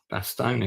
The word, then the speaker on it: Bastogne: I think it's pronounced Bastogne locally.